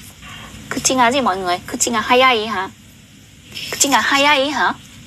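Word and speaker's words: 口が速い: Mà cô đọc nhanh thì chúng ta sẽ đọc là kuchi ga hayai.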